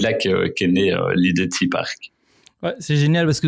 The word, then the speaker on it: cPark: Et j'espère que je le prononce correctement, ou bien C-Park, comment on le prononce ? Oui, c'est très bien. C-Park, voilà.